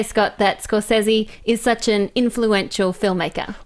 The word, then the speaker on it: Scorsese: I should say I have a clip of Scorsese pronouncing it for you guys. Can you roll it? Hey, it's Marty Scorsese. There you go. That Marty was from Scorsese.